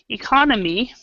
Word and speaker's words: economy: We have economy, which is actually the pronunciation is economy. Okay, and then we have economics. Okay, and the pronunciation of that is economics. So the stress on this one is here, economics. But with this one, the stress is here, economy.